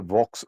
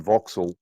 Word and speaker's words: Vauxhall: have to tell you there's a car named a Vox. It's not spelled that way, but it says it's spelled Vauxhall and Vauxil.